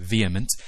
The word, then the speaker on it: VHEMT: The Voluntary Human Extinction Movement, or VHEMT, pronounced VHEMT, is an environmental movement that calls for all people to abstain from reproduction to cause the gradual, voluntary extinction of humankind.